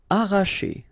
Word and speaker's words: arracher: Arracher. Okay, don't pronounce the double R, sorry, it's just like if you would have only one.